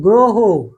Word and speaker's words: গ্রহ: যদি শব্দের শুরুতে অ থাকে এবং পরে যদি রফলা থাকে, তাহলে অ এর উচ্চারণ ও এর মতো হয়। রফলা থাকলে অ এর উচ্চারণ ও এর মতো হবে। যেমন গ্রহ, গুরু, গ্রহ।